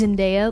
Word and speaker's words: Zendaya: like when you're like it's zendaya like there's no how do you say that like sweetly like it's sunday like i don't know how